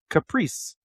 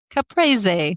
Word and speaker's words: caprese: Number 7 is, Caprice. Caprese. Caprese. Caprese. It's Italian. It's a tomato mozzarella salad. It is not a caprice. The final E is pronounced Z. Caprese.